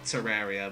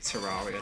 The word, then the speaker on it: Terraria: I know it's pronounced Terraria, but people say Terraria still because that's just what they're used to.